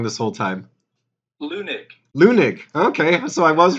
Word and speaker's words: Leunig: I found out I was saying Wahab's name wrong this whole time. Leunig.